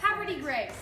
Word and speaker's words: Havre de Grace: I would say this is havre de grace. You would, but it's, you would. That's the it's way it's spelled. very down home. It's more like Havre de Grace.